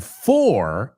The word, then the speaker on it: for: So, fur, F-I-R, fur, F-U-R, and for, F-O-R, en algunos casos se pronuncia como las primeras dos.